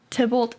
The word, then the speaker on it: Tybalt: Tybalt, is that how you say it? Yeah, Tybalt.